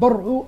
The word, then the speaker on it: برعو: طبعا الغريبة هنا، وهذا برافو لأهالي غدامس مثلا محافظين على الاسم لتوا، أثبتت أن برعو الاسم والنطق الصحيح لفرعون باللغة المصرية القديمة.